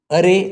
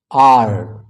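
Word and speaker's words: are: ಯು ಡಿಡ್ ಡಿಡ್ ಇದು ಅರೆ ಅಲ್ಲ ಆರ್ ಆರ್ ಕೊನೆಯಲ್ಲಿ ರ್ ಉಚ್ಚಾರಣೆ ಬರಬಾರದು ಆದಷ್ಟು ಕಡಿಮೆ ಇರಬೇಕು ಅದಕ್ಕೆ ಇಟ್ ಇಸ್ ಆರ್ ಆರ್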